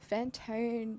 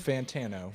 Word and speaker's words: Fantano: facing music vessel and we're joined by Anthony fantone ten advanta knows Fantana Fantana I literally got sent had to say